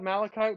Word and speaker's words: malachite: made up malachite and i made up malachite because it rhymes with graphite so that's totally you